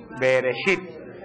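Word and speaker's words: בראשית: Bereshit. Beresit.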